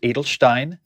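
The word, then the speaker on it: Edelstein: is Pelican Adelstein and it is pronounced Adelstein because that's according to the pelican website topaz so Pelican arrow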